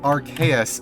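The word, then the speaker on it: Arceus: Uh, they are playing Legends Archus at the moment. I pronounced it correctly for once.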